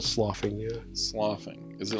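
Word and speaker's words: sloughing: It's more like it's spelled like do but with a SL instead of a D.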